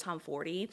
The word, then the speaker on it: Tomforde: And I swear it's pronounced Liz Tomfordy, unless the audiobook narrators were just fucking it up each time they said the name.